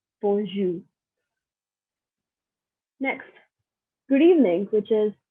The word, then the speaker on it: bonjour: So we start with hi, which is bonjour. Again, hi is bonjour. And if you see here, I do not pronounce the R at the end.